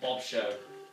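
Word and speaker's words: Bob Sheaux: But if you want to check him out, his name is Bob Show, which is the show is spelled S-H-E-A-U-X, which is kind of odd, but hey, it's something.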